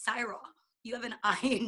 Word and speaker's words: Saira: eye in it so my name is CRA so it's spelled like Sarah but there's an eye in the middle so I would interrupt